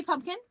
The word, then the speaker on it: pumpkin: do you say it do you say pumpkin I say pumpkin pumpkin and say it again how you say pumpkin pumpkin pumpkin with no P there you go okay is